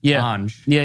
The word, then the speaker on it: Anjney: it every day and my name is pronounced an yeah yeah but it's written yeah and she would